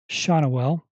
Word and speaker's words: Schanuel: I have to look up Nolan's last name, the pronunciation. Every time I see it, I always want to say it wrong. Nolan Schanuel.